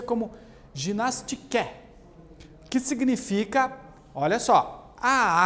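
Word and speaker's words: γυμναστική: Olha só, a palavra ginástica vem de uma palavra grega, que a gente pronuncia como ginastike, que significa, olha só, a arte de fortificar o corpo e dar-lhe agilidade.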